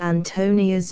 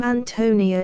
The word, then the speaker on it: Ántonia: note the Bohemian name Antonia is strong ly accented on the first syllable like the English name Anthony and the I is